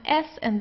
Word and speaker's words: Sand: then comes a vowel, we pronounce the S like in the English Z, so it's der Sand, Sand. Okay, so it's not Sand, it's Sand.